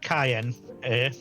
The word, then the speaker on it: Cyan: oh yeah all right Cayenne Cayenne right I pronounce it the way it's spelled and not the way it's pronounced yeah in in the Japanese version it's spelled like the cayenne pepper is oh okay well there